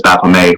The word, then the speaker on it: Baphomet: I pronounce Baphomet as Baphomet. One, because of the significant quantity of French Canadian heritage that I possess.